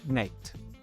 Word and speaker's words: net: Si legge net e vuol dire di, dei.